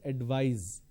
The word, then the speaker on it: advise: in the verb form, instead of C you need to use S, and it's pronounced as advise. So please advise me, I want to advise you.